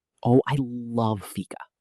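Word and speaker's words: fika: Let's talk about Sweden and their concept of fica. Oh, I love fica. It's spelled f i k a, right?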